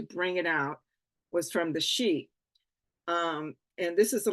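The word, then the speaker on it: Sídhe: a book written about the she and and it's spelled s DHE it's an Irish ter term excuse me I have a dry throat so it's an Irish term and the she referred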